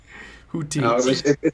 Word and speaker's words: Guti: Guti. No, it's a hard G.